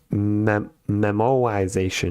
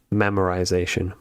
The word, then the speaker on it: memoization: It's pronounced memoization, not memorization.